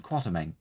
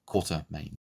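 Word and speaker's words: Quatermain: crops up is iron quartermen and that is how you pronounce it not quarter main there's no R in that part so it's pronounced quat as in kumquat created by H Ryder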